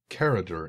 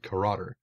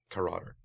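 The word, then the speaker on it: Karadur: been mispronouncing his name sorry sorry i keep pronouncing it character it's not it's karate um k-a-r-a-d-u-r there we go caroter um and i keep mispronouncing so i apologize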